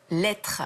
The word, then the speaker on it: L'Hêtre: trouve formidable dans l'équipe elle s'appelle l'être alors lettres attention lettre ça s'écrit comme le lard comme l'arbre c'est un sigle qui